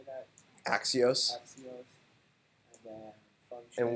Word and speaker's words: Axios: Axios.